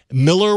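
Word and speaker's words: Millar: Miller world it's it's Miller World Miller a lot of people a lot of people make that mistake because it's it's spelled malar yeah but he is Scottish and it is pronounced Miller all right cool so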